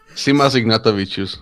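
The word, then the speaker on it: Simas Ignatavičius: I'm going to butcher this last name. I know I was told how to pronounce it. I can't remember. Again. Try it. I dare you. No, that's right. Sam, you got it.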